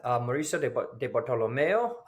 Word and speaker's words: Mauricio Di Bartolomeo: are here today with Mauricio de bartolomeo please correct me if I pronounced that wrong Mauricio that was pretty good okay little little gringo-ish but not too bad um Mauricio thank you